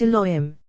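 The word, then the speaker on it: יהוה: Third, Yehovah, pronounced Elohim, as has been said, compassion, from which judgment issues.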